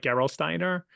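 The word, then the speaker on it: Gerolsteiner: people that are German speakers I might be mispronouncing but something like Geral Steiner is a a bottle of mineral water that's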